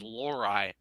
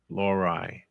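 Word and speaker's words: Lohrei: him la this that's actually the hardest name is uh to pronounce is l h REI you won't know how to say that at first until they finally say which is lorai lorai that is number six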